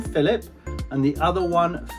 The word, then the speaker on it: Philip: It is pronounced as an F.